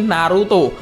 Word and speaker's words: Naruto: lokal negara kita dan jika nama Narto di dibaca dengan logat Jepang akan menjadi Naruto karena orang Jepang memang